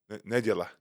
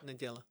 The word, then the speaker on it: niedziela: Nedziela. Niedziela. They say nedziela. Niedziela.